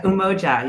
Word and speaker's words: Umoja: here and they are from yumo should I pronounce yo or yoa yeah umoja you got it okay perfect thank you we